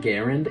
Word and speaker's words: Garand: people often tell me I'm pronouncing M1 Garand wrong because I say it Garand and that's